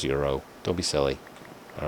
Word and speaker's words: gyros: It's Greek food. It's pronounced with Greek pronunciations.